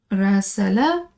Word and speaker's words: راسل: As you can see here, راسل correspond, and we'll have it in another video coming soon. راسل, it rhymes with كاتب, and both of them are synonyms in this context right here.